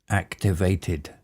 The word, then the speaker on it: activated: Activated. This is one of the words where it ends TED, so that's pronounced, in this case, TID, activated. Activated.